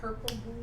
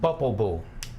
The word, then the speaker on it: Popol Vuh: Purple blue, what are you saying? Popol Vuh, Spell that.